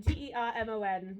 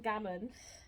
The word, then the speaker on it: Germon: And our surname is German, and it's Germon. And you've seen it. Yeah. I have to go, hi, I'm Bethan German, Germon. Or Dave answers, it's Germon, David Germon. And I'm like, why does it say it like that? Because otherwise I get letters for Bethan Gammon or German, MAN, which is fine, but